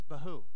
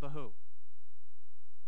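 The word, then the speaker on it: בהו: without form to who the other word which we translate as void rhymes with it it's behoo to who and Bahu kind of interesting that's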